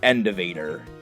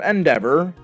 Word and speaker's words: Endeavor: He learned Endeavor, or as I used to call it, Endevator. My brother and I, we used to pronounce Pokemon moves very, very poorly.